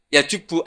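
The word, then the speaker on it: يجبّ: islamu yajubbu Ma qoblah itu bacanya bukan yajibu tapi apa yajubu a yaqt lah kalau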